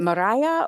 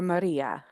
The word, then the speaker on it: Maria: I will be reaching out to Brittany and is it Mariah or Maria? I'm sorry. I want to pronounce it correctly. Mariah, I think. It's Maria. Maria, thank you. I'll remember that because I'm Rhea, so Maria.